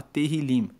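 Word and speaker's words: Tehilim: No original hebraico, o livro de Salmos se chama Terrilim. Se escreve T e H. E terilim quer dizer louvores.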